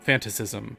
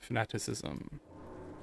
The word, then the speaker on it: fanaticism: school days and uh we always used to call it um fantasism or fanta which of course is not how you actually say it it's fanaticism like uh fanatic but you know we